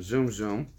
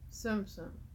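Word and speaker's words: Tsum Tsum: Sorry, I keep saying that wrong. Why do I say Zoom Zoom? How do you spell it? T-S-U-M. T-S-U-M. Zoom Zoom. Sum Sum. It's Japanese.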